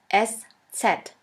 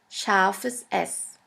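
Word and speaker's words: Eszett: this we call it s set s set or sha s sha s which means a sharp s this letter is pronounced like the double s in the word kiss and always remember this letter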